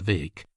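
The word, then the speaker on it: Bheag: Further, it was rumored that there was a chance of them getting for goal Farquar McCrae, little Farquar or Farquar Vake, BH EG, pronounced Vake, as he was euphoniously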